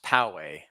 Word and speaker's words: Poway: Diego that is correct yes and it's technically pronounced Poway Poway would I say yeah it's Powell like